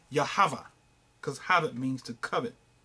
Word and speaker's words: Yahweh: But it was Yod-Heh-Vah-Heh, which will be pronounced Yahweh.